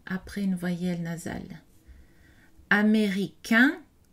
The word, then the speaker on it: américain: Américain, le N n'est pas prononcé pour le masculin grammatical.